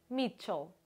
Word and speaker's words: Michel: do inglês antigo também Mitchell ch em inglês antigo terá a pronúncia de T como em Church Mitchell será algo Então